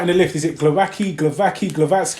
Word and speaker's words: Głowacki: I think Sky Sports said Glowacki. Glowacki. With a like a grr. That's mad. A Glowacki. Yeah. But I think it's Glowacki.